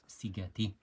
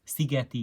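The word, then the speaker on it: Szigeti: studying the violinist joseph cigati actually want to pronounce it correctly it's sigeti yojeff and happened to be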